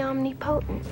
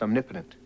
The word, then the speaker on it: omnipotent: anymore I'm the omnipotent now uh point of fact hun that would be pronounced omnipotent not if I say